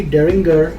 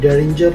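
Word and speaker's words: Deringer: और हेनरी डेरिंगर या डेरिंजर, आप उसको जिस किसी भी प्रोनाउंस करना चाहें, उसने भी उसी दौरान जो है फ्लिंट लॉक राइफल्स बनानी शुरू की।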